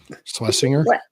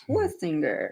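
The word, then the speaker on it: Schwesinger: That's that's the pronunciation I've heard difficult for me. I can't like that. I want to I want to make it Yiddish. I want to swinger him, but it's Schwestinger.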